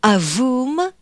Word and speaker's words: AVUM: In part one, we followed the launch up until the switching off of the AVUM upper stage, or AVUM, it's often pronounced in French.